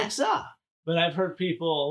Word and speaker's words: Nixa: Because it's not Nixie. It's Nixa. Nixa.